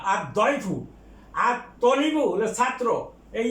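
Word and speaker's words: الضيف: তারপরে আছে আর দয়ফু মেহমান, এটা দটা হরফে শামসিয়া, কাজেই এটা লামের উচ্চারণ হবে না। আর দয়ফু।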